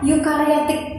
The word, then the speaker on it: eukariotik: Di sini kita bacanya eukariotik kayak kata euro. Euro itu kan euro gitu ya tulisannya ya. Nah, eukariotik yang satunya ada prokariotik gitu.